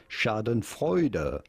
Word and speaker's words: schadenfreude: to pronounce this word shadon freuder shadon freuder in English in German it would be something along the lines of Shaden freuder so there we go